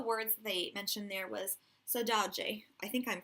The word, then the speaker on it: saudade: And one of the words they mentioned there was saudade. I think I'm pronouncing that correctly. So you can see it there. That second D, I think, is pronounced like a J.